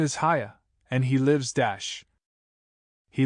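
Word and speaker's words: Haigha: His name is Haya. He pronounced it so as to rhyme with mayor.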